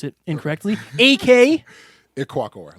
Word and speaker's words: Ikwuakor: Ikwuakor. Like, it's like Ick and then Walker. Ikwuakor. Ikwuakor.